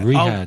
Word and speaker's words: Riyadh: I think how it's do Ryder. I pronounce? I think it's Riyadh. Ryder. Is it Riyadh? Riyadh.